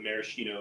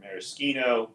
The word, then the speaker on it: maraschino: And then finally, a half ounce of cherry of the maraschino or maraschino. People say it both ways. I grew up saying maraschino because that's how my mother pronounced it.